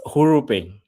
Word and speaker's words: HURU: How do you pronounce the project name? Sorry. It's HURU. You actually got HURU. it. Yeah, HURU.